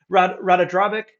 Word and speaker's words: Ratadrabik: How do I pronounce this guy's name again? Ratadrabik.